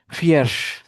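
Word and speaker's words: vier: ভালো করে বুঝতে পারে ফিয়ার যেটা আমি ভুল করেছিলাম আর কি ফিয়ার এফ এফই লিখে ফেলছিলাম বাট এটা ভি উচ্চারণ হবে জার্মানি ভাষায় এটা এফ মানে ফ এর মত উচ্চারণ হয় তাহলে মোটামুটিভাবে আমরা ফিয়ারজিস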